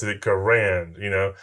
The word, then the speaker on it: Garand: He pronounced it Garand.